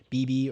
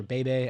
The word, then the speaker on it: Beebe: 7 for Tyler Smith, 6 for Terrence Steele, 2 for Cooper Beebe or Bebe. I don't know how you say it. I'm pretty sure it's Beebe.